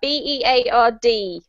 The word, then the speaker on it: beard: Yep, beard is the correct pronunciation, and it does not rhyme with herd, even though it looks like it does.